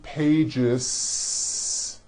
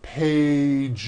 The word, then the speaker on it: pages: pages it's not two pages unvoiced no it's two pages with a voiced Z even though you spell the word like this in American English you pronounce the word like this pages you're probably saying I